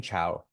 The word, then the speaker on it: Chao: incorrectly oh that's okay it's like the Spanish greeting cowo oh okay that's how